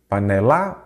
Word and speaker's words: panela: penúltima vamos lá pela qual que é a sílaba tônica panela panela ou panela panela então é a penúltima aí você já sabe